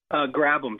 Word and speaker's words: Grabham: Grabham, just like you were going to grab something.